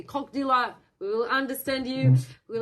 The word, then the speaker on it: как дела: The next one is cock dealer in English, cock dealer. And it sounds like, how are you? I'm not promoting anything today. It's just Russian. It's just about associations. So sounds like как дела, it's about pronunciation. Say как дела.